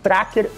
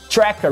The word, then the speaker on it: Tracker: e aliás, um parêntese, é sempre Tracker, com a pronúncia em português, e não Tracker ou Tracker, como a pronúncia dos nossos irmãos Yankees seria.